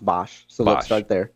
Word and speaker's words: Boesch: His name is pronounced Boesch.